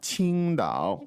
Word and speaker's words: 青岛: it and say 青岛， Qingdao. 青岛 Now watch 啤酒 out here for the spelling. An opinion, it's Qing. It looks like it might be spelled like Queendao. Qingdao.